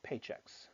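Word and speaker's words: Paychex: States is a company called paychecks spelled with an X they compete side-by-side with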